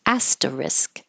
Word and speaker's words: asterisk: I just moved the R over to the risk side to help you remember that it ends in like a real word, risk. Asterisk.